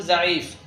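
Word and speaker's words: ضعیف: ضاد أيضا ينطق مثل زي فنقول زعيف. لا ينطق مثل الضاد العربي بل ينطق كزي ونقول زعيف.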